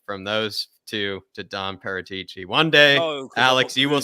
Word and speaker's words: Paratici: No, but it's Don Paratici is what he's saying. He's just saying his name wrong.